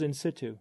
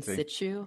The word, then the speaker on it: in situ: I say in situ, like situation. Yeah. I find that scientists and or sorry, I find that physicians tend to say situ and scientists tend to say situ.